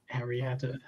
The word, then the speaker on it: Eriador: And anyone even remotely fan of Tolkien's work just by how familiar with the work, would know it's pronounced Eriador, not however that was pronounced.